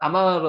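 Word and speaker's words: אמר: 한번 해 보세요 아마르 요게 아 발음이 난다 그랬죠 요게 무음이 앞에 올 때는 오 발음이 나고요 뒤에 갈 때는 무음입니다 그래서 아마 여기 미연 발음이고 요것도 아 발음 나죠 아마르 요게 말하다 말하다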